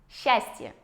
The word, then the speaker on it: счастье: Счастье. С «ч» меняется на «щ». Тоже гораздо проще, чем если бы мы говорили «счастье».